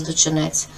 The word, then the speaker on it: Дочинець: А ваш великий земляк, наш найпотужніший сучасний український письменник Мирослав Дочинець, літературний наголос Дочинець був гостем мого проєкту від книги до мети.